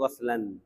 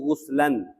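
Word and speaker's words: غسلا: Ya, tapi di dalam bahasa yang paling afsah, yang paling afsah itu bacaannya yang paling fasih itu dibaca dengan bacaan gaslun. Gasala ysilu gaslan. Ya, bisa juga yang dibaca gasala ysilu guslan bisa. Tapi afsah yang lebih fasih dibacanya gas gaslan ya.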